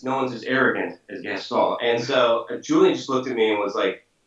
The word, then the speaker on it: Gaston: with a quiet French accent. Because no one's as arrogant as Gaston.